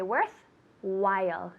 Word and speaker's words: worthwhile: That H is silent. We say worthwhile, not while. While.